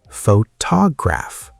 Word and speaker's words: photograph: Photograph. The stress is on to photograph.